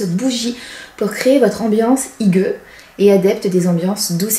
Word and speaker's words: Hygge: Ce mois-ci, la Beautiful Box vous propose de vivre la Idge prononcée Hygge, voilà, grâce à sa routine Hygge, composée de 6 produits.